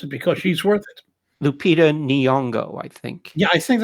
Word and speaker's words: Lupita Nyong'o: Everybody forgive me, but if you don't know who she is, find out how to pronounce it because she's worth it. Lupita Nyong'o, I think.